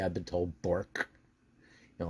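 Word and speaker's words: Bourque: The Brian Trottier, the Ray Bork, not Borke, I've been told Bork.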